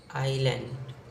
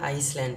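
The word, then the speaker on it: island: आइलैंड यहां पर आपको बहुत सारे लोग इसको गलत प्रोनाउंस करते हैं वो आप थोड़ा ध्यान रखिए इसको हम पढ़ते हैं आईलैंड तो कुछ लोग क्या करते हैं आइसलैंड पढ़ते हैं जो बिल्कुल गलत है तो आईलैंड पढ़िए और इसका जो पहला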